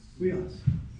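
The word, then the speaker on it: υἱός: Weos. No, short O. Yeah, Weos.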